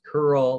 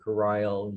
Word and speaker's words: Kuril: Also, there was an agreement by FDR on it's pronounced Kuril or Kuril, you see both islands, which over here they're here in relation to Japan.